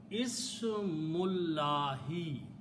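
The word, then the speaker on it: اسْمُ اللَّهِ: As I said, when we read them together, we do not pronounce this alif. So the word becomes Ismullahi.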